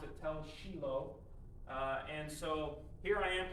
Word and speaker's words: Tel Shiloh: And so this is called Tel Shiloh, or as they say it over there, they pronounce it Tel Shiloh.